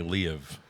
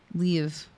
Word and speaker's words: Liev: Leev Shriber, we found out his name is pronounced. I always thought it was leave Shrivever. We make sure when we aren't sure to look up a video of them saying it and it's apparently Lev Lev.